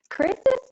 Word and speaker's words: Chris's: And don't forget to add your little S so it turns into 2 syllables. Chris's dad is not happy with Chris.